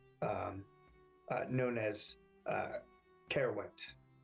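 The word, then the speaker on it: Caerwent: coast of Britain um uh known as uh carowind spell that Byron uh carewent c-a-e-r-w-e-n-t got it she says if you could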